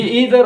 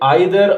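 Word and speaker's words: either: इसके साथ साथ ये आइदर और नाइदर भी इस्तेमाल होता है। आपकी मर्जी है, आप आइदर नाइदर पढ़ते हैं या ईदर और नीदर पढ़ते हैं, कोई फर्क नहीं पड़ता।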